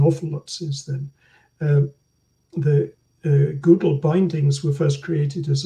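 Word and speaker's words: GDAL: Below the line are, in particular, the Google, I call it Google because that was the way Frank Warmadan pronounced it in Lausanne, explaining that Google is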